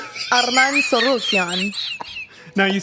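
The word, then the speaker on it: Tsarukyan: Arman Sarukian. Arman Sorokian. Now you say it. Arman Sarukian. Very good. But I like the way he says it. It's so nice. Arman That's AI, bro. Sarukian and Charles Oliveira.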